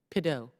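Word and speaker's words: Pidot: Mr. Pideaux, T is silent, right? Very French.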